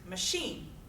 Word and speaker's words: machine: Second example I have up there is machine.